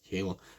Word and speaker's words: Gil: I only say Gill, I know it's Hill, but he pronounced it Gill, so don't have a pop at me there.